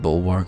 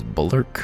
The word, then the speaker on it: bulwark: you to the bridge i kind of want to pronounce the word bulwark as bullerk but i'm pretty sure that it is bulwark i wouldn't be shocked